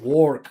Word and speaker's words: work: We do not pronounce the O in the word WORK. Or forget it. Pretend it's not there. Just pronounce W and R like this. Work. Not work. It's work. Like that.